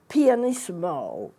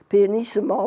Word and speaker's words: pianissimo: have a triple P that's very soft called pianist mo that's how you pronounce it pianist mo pianissimo means soft if you have an F that's